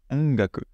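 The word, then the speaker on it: 音楽: Et vous voyez que sur le on et sur le g, ça va passer par le nez. Ongaku. Parce qu'on a ce on avant qui est nasalisé. Et du coup, c'est plus simple de prononcer le g directement avec le nez à ce moment-là.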